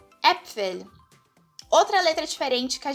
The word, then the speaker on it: Äpfel: O A-Umlaut, né, é esse A tremado aqui e ele tem som de E. Então, sempre que você vê essa letrinha aqui, você vai pronunciar ela como E. Um exemplo de palavra é a palavra Äpfel.